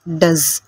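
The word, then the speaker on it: does: അതായത് ഇവിടെ ഒയ്ക്ക് ശേഷം ഇ വരുന്നുണ്ടെങ്കിലും അത് സൈലൻ്റ് ആണ്, ഒരു സൗണ്ടാണ് എസ്സിന് വരുന്നത്. ഡസ്, കണ്ടോ? ഇങ്ങനെ വരുമ്പോഴും, അതായത് ഒയ്ക്ക് ശേഷം ഒരു സ് സൗണ്ട് വരുമ്പോഴും അവിടെ ഒയ്ക്ക് ആ എന്ന ഉച്ചാരണമാണ് വരുന്നത്. ഡസ് എന്നാണിത് വായിക്കേണ്ടത്.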